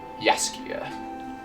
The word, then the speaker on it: Jaskier: Isn't it pronounced Jessica? Jaskier.